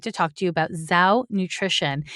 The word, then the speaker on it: Zhou: why I'm excited to talk to you about Zhou Nutrition. It's spelled Z-H-O-U, Zhou Nutrition.